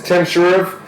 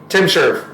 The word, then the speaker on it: TMSHRV: I actually don't know what his name is or how you pronounce it. It's Tim Shrv. TMSHRV. Tim Shrv.